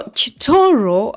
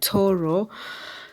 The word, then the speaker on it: Kitooro: road leads to Kor so choro as the locals say or even me that is what I call it it is choro but you say you can say Koro so those taxes are